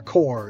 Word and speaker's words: corps: They're a core, you know, like corpse like it's not pronounced. It's kind of pronounced as core, but it's c o r ps, you know.